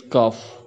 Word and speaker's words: cough: Then after, next is cough, gh stand for f.